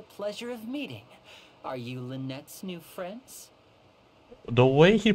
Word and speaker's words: Lynette: someone pronounced the name liny oh what it's so weird her name is pronounced Lynette for some reason they got that right and then the moment